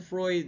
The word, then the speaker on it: Freud: So it's pronounced as Freud, ha?